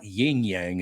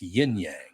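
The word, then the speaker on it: yin yang: most people don't understand it's not yinyang it's yinyang oh well they spell it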